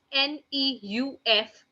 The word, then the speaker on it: neuf: 9 is written down as NEUF, and which is being pronounced as neuf, neuf, neuf.